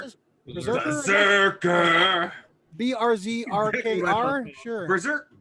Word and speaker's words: BRZRKR: How do you pronounce this? Berserker.